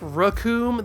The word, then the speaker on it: Recoome: They also tend to pronounce it with a shorter vowel sound, more like Rakum than Recoome.